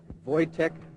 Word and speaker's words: Wojtek: Sebering, Abigail Folger, Wojtek Frykowski, and another man who is unknown. The identification was made by a friend, and it's tentative at this time. Phonetically, we're given V-O-Y, T as in Tom, E-C-K, and the last name Frykowski, F-R-Y-K-O-W-S-K-I.